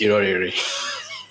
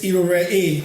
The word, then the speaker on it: Irorere: I will say Irorere. Is it correct? Well, technically, 95% of people pronounce it that way. So there was a phase of my life where I was thinking maybe that's the right way, but then it's not. Okay. It's Irorere. So the last RE is not pronounced. The E is stretched.